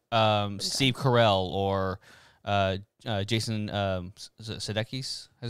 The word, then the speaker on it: Sudeikis: like Steve Carell or Jason Sudeikis. Is that how you say his name? Sudeikis.